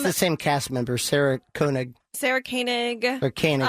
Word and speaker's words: Koenig: same cast member, Sarah Koenig. Sarah Koenig. Or Koenig, it's pronounced Koenig. like Matt Groening.